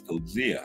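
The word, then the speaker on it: Coetzee: Bruce Scarce was the one told me how to pronounce Cozia.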